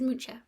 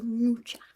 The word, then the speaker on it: Mucha: I did look up how to pronounce it. It is Mucha. Apparently, well, Google says it is. So Mucha.